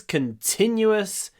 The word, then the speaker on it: continuous: Когда вы говорите continuous, вот этот в очень важный. Continuous. Потому что, хотя мы не пишем в, continue заканчивается на у, и поэтому вот его произносим перед с в конце.